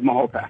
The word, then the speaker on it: Mahopac: But since I'm a native and I was born here, I really need to refer to it to the proper pronunciation of Mahopac.